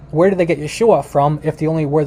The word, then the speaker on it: Yeshua: languages it's a it's it's like uh it's yeshua where did they get yeshua from if the only word they knew was